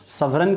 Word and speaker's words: sovereign: सवरेन जब लिखा जाता है SOVEREIGN, इसको ध्यान रखना है, सवरीन। यहाँ पे जी साइलेंट है क्योंकि जी का प्रोनाउंसिएशन नहीं होता है।